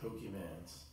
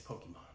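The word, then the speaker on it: Pokémon: oh are they butchered they said pokemans it's Pokemon Pokemon is like don't do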